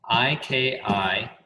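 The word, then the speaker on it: 生きがい: Have you write down IKIGAI, and I'm going to butcher it because it's a Japanese word, but Ikigai is, I believe, how they pronounce it.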